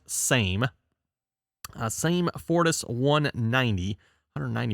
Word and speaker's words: SAME: the same fortis actually i think it's called sami isn't it or something or sammy sammy i believe that's how they actually like pronounce it over in europe there but uh at least in american english everyone that would be pronounced same uh same fortis 190